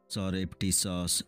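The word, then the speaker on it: surreptitious: ভিডিওরে আমি কিছু গুরুত্বপূর্ণ ইংরেজি শব্দর অর্থ ও উচ্চারণ বিষয়রে আলোচনা করিবা সরেপটিস এস ইউ আর আর ই পি টি আই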